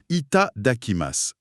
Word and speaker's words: いただきます: Pour la prononciation, c'est quelque chose comme d'akima. C'est ça. C'est ça. Itaakimas.